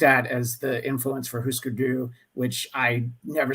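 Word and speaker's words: Hüsker Dü: I'm like, oh, is that how you say it? And it's like, yeah, what do you think those dots mean? Yeah. It's Husker Du. I thought it was Husker Du, and that doesn't even make sense.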